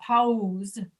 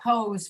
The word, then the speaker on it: pause: Instead of saying a pause, which is probably the way you should pronounce it from the way it's spelled, Okay. but we don't say pose for that. We say pause. And the reason we don't say pose is because Pause. pose is another word Pause.